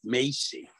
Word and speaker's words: Moshe: Yeah, because he pronounced the O's as E or A, and he pronounced a shin like a sin and a sin like a shin. So if you know anybody with the English name Macy, that's really Moshe.